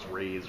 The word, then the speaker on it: Ra's al Ghul: got into fights about how you want to pronounce Raj raay Raj whatever well the beauty part